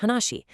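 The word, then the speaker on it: 話: Notice the character for speech or conversation pronounced hanashi.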